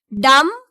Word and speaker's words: dumb: Dumb. So here also B is the silent letter.